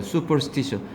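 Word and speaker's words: superstition: 수퍼스티셔. 발음은 얘들아 슈가 아니야. 수야. 수.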